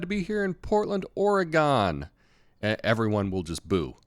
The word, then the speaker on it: Oregon: be here in Portland, Oregon," everyone will just boo, right? Because it's Oregon. Just think knife or a gun, right?